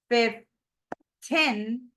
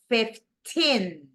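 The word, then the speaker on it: fifteen: 15 if we say 15 dist stress goes right here 15 and if we say 50 distress goes in the first syllable so this one is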